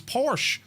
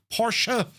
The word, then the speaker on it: Porsche: And in German, the E at the end is pronounced making it two syllables.